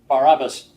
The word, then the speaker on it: Barabbas: last names here Barabbas this guy's last name was bar-abba his first name was hey soos or Jesus Jesus bar-abba was his full name but they only pronounce so they only gave us his last name and they called it by the Greek version Barabbas it means son of